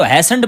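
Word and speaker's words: hastened: अब देखें लफ्ज लिखा हुआ हैस्टेंड लिखा हुआ है लेकिन ये टी साइलेंट है तो हैस्टेंड पढ़ते हैं।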